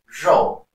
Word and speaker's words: 肉: So the R in pinyin is pronounced as zh, not z or le, as you will sometimes hear.